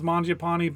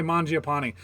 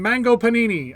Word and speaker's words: Mangiapane: Like, you didn't hear him being like, "Oh, the pass from Mango Panini.